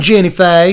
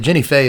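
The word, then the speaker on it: Jinnie Fay: that's jeb mir and jenny faye now i'm from the south and i've known a few people named jenny fey and you have to say it like that jennifer jetmire's second and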